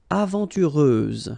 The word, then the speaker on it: aventureuse: Aventureuse, final S, not pronounced.